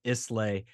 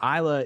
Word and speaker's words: Islay: and visit uh Isla on paper it looks like islay and I've heard it pronounced that way but I assure you that it is Isla I stopped watching the